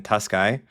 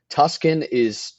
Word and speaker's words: Tuskey: People like put letters in there. Tuscan there's no N in my last name, but Tuscan is a very popular enunciation of my name, but it's Tusky.